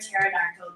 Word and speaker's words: pterodactyl: So why can't you hear a pterodactyl go to the washroom? Why? Because the P is silent.